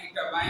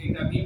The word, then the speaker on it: ketamine: कुछ लोग प्रोनाउंस करते हैं कीटामाइन, कुछ लोग प्रोनाउंस करते हैं कीटामीन, तो दोनों ही ठीक है, जिसको जो भी आसानी